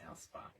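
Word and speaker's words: Alspaugh: she now Britney told me before how to pronounce his name a LS p a u g h ala it's Alpa is that right Britney did we say it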